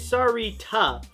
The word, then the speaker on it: Sarita: I just wanted to point out that the correct way to say my name is Sarita.